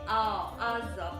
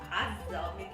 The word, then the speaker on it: Azza: here it's you say Azza because but actually my name is Azza. This letter you cannot pronounce here.